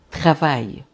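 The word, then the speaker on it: travail: E o a e l vai ter um som de ai, tá? Eu vou dizer travai. Trava.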